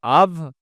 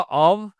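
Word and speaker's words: of: একটা মাত্র ওয়ার্ড, এই অফের জায়গায় আমরা অফ বলি না, অফ হবে না, উচ্চারণ হবে হয় আভ, মানে ভি সাউন্ড হবে, মানে বাংলায় যেটা আমরা বলি ভ সাউন্ড, অথবা অভ, ব্রিটিশরা বলে অভ, আমেরিকান বলে আভ, অথবা এই সাউন্ডগুলো হয়।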